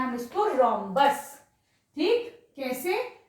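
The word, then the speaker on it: rhombus: इस फिगर को क्या बोलेंगे, ये फिगर बोलते हैं हम इसको रोम्बस। ठीक, कैसे, ये एच साइलेंट हो गया, रोम्बस।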